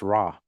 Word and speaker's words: Ra: the symbol and it sound as R pronounced raw raw was the principal